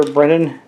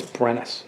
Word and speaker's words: Brenis: our 600 gold that's sir brennan uh sorry i'm saying his name wrong sir brenna scott it's brenis okay and that means that